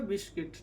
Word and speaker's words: biscuit: ठीक है, आगे GUILT क्या है, गिल्ट, ये गिल्ट, यू नहीं उच्चारण होता। GUITAR guitar, GUARD guard, BISCUIT क्या हो गया, बिस्किट।